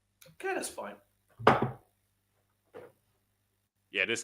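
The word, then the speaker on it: Queta: Think I'm mispronouncing Neimus Kata's name wrong. Kata is fine.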